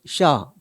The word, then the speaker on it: chat: 이 고양이가 CHAT면 불어로 샤, 그때 T는 묵음입니다.